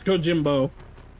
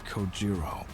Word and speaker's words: Kojiro: The way he deliberately mispronounces my name really bothers me. It bothers me so much that the anger boiling inside me gives me the strength to open my mouth once more. It's Kojiro.